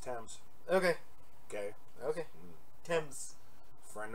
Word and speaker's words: Thames: didn't explode so things it's pronounced attempts it's pronounced Thames okay okay okay tens friend of my ex